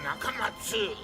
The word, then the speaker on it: Nakamats: He dropped the letter U because he says an 8-letter name is easier to remember, but he still wants you to pronounce it Dr. Nakamatsu.